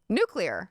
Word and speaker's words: nuclear: Nuclear. That's how it's spelled. Nuclear. There's not another U in there. It's nuclear.